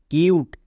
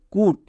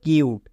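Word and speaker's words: cute: সি ইউ টি ই কিউট এই ওয়ার্ডটি আশা করি সবারই খুব পরিচিত ওয়ার্ড কিন্তু অনেকে একে উচ্চারণ করে কুট এরকম কিন্তু এর উচ্চারণ কি হবে কিউট next M ইউ টি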